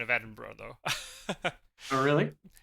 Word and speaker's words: Edinburgh: fix your pronunciation of Edinburgh though oh really H if you ever see b g h at the end of a British place name it's not pronounced burrow oh um even even